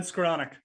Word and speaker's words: Skoronek: I heard from somebody that someone highlighted earlier today that Skoronek, I never say his name right. Skoronek. But what? Ben Skoronek. Skoronek. Thank you.